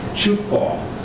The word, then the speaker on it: Tchoukball: completing their unit on Chukball. That's spelled Tchoukball. It was invented in Switzerland in the early 60s. And as I've learned, the focus of Chukball is to provide an